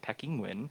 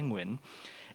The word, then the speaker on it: Nguyen: So my last name is Nguyen, but professionally I still go by Nguyen. And everyone can make those sounds. It's the same sounds in the word penguin.